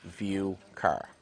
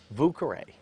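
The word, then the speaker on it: Vauquerey: a sale catalog and saw the name Vauqueray, I thought it was called View Car. That's just how I pronounced it. I finally asked Dr. Eckloff, how do you pronounce your farm's name properly? Vucare means old quarters.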